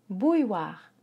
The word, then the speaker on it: bouilloire: pour faire chauffer l'eau une boue noire bouilloire ou i oi le e silencieux bouilloire bouillie war bouilloire voilà 12 mo extrêmement